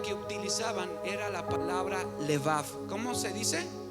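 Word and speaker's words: לבב: la palabra hebrea que utilizaban era la palabra levav Cómo se dice o leev y una de las cosas que quería decir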